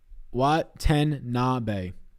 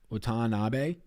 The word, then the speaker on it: Watanabe: Hey, Sal, Watanabe is pronounced what? Watanabe. So not Watanabe. It's Watanabe. Watanabe.